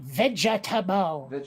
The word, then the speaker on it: vegetable: because they don't think vegetable has three syllables it doesn't it just did well when it was pronounced incorrectly okay i mean at our best at best that that extra syllable you put on there is uh like a very minor barely noticeable glottal stop at most yeah it's a very very minor unaccented syllable right you did it you